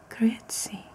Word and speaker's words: Grüezi: I lived in Switzerland, but all these years later, say it correctly. You say grüezi, Grüezi, I think.